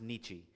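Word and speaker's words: Nietzsche: He was a German philosopher named Nietz sometimes pronounced Nichi.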